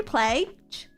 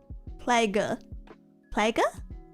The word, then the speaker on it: plague: Is that actually plage? Plage. Plagey. Plage. There's no way it's called a plage. Plague. Hard G not soft. Plague. How is that not what I've been saying? Plague. Plague. Rhymes with vague.